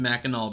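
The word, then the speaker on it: Mackinac: Uh I went to Meno City, and yes, I know it says Minac, but it's actually pronounced Menel because this is America and none of our makes sense.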